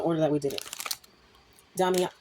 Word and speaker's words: Damiana: I think it's damiana. I hope I got it right this time. Oh my god. Damiana. So, it's pronounced damiana.